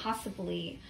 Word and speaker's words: possibly: And be careful, my friends, this syllable, si, has a schwa. So we're going to use this spelling with the I.